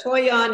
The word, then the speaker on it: toyon: There is the toyon. Toyon, okay. T-O-Y-O-N. Go ahead, Cindy. I was going to spell it out.